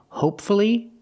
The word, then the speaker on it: hopefully: The first word, hopefully, the stress is on the first syllable, and there's only one syllable before F-U-L-L-Y. If there's only one syllable before F-U-L-L-Y, pronounce the U, hopefully.